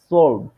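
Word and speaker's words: zwölf: আসলে নেটে মতো করলে সোয়াই সোয়াই আর এইখানে সলভ সলভ মানে একটু ভেয়ের মত উচ্চারণ তবে এটা ধীরে ধীরে পড়তে পড়তে পড়তে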